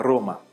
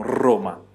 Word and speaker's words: Roma: Mas aí, por exemplo, o R inicial. Por exemplo, Roma. Né? A gente no norte da Itália, a gente acaba pronunciando mais acentuado esse R. Já em outras regiões, um pouco menos. Então, tem gente que fala Roma, né? Menos. Já outros falam Roma. Então, depende, tudo bem?